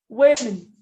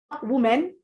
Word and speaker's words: women: Women. So for that word, the O and the E will give you A. Women. Women. Women. Not woman or women, it's women. That's the plural.